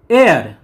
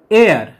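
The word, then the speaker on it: heir: আগে এন বসে যেমন এয়ার উত্তরাধিকারী এয়ার এখানে এইচ এর উচ্চারণটা সাইলেন্ট সেজন্য এয়ার এর আগে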